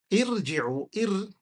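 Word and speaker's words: ارجعوا: Irji'u, with a kasra, sukun, jim, kasra, and irji'. Irji'. Okay, irji'. That's how you say it.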